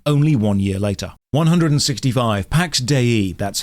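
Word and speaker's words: Pax Dei: properties and died only one year later 165 Pax de that's how it's pronounced the developers said so is a Sandbox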